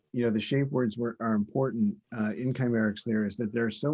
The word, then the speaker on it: Kcymaerxthaere: Did I pronounce that right? It's Kcymaerxthaere, and it means the treasured one.